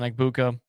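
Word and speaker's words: Egbuka: And I mean, we've we've been so high um on on Ibuka.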